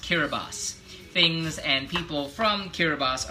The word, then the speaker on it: Kiribati: So the Gilbert Islands became Kiribati, spelled Kiribati, K-I-R-I-B-I-T-I, Kiribati, but it's pronounced Kiribati.